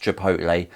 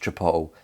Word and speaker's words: chipotle: And just for everyone out there, it is pronounced chipotle. It's not pronounced chipotle. I don't give a fuck what anyone says. It's pronounced chipotle. Sound it out.